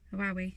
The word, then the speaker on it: Huawei: Huawei.